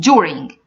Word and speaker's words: during: hospital so here guys I'm not saying during ordering I'm saying during doctor during indoor indoor